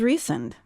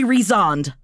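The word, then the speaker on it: Rhysand: His name is Reend. And we have to stop here. This is how it is pronounced in the audible book. I know a lot of people in my brain I say Rezand.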